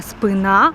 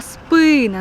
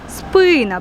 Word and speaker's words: спина: мокра хвилинка української мови правильний наголос не спина а спина наголос на и спина перший склад церква Юра позаду мене